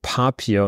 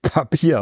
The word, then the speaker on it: Papier: Wert daruf dass er mit Akzent auf dem a also Papier und nicht Papier ausgesprochen also das kann ich